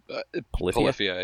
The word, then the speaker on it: Polyphia: But, like, he name dropped Polyphia a couple times. Polyphia? Is that how you pronounce it? Polyphia, yeah.